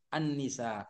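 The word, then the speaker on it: النساء: bahasa lisan Jadi bahasa tulisnya yang benar Al tapi dibaca Anni Annisa begitu ini saya katakan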